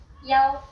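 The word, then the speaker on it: 幺: For example, the bus number 101 is pronounced yaoing ya. And you can even use yao instead of e when saying phone numbers.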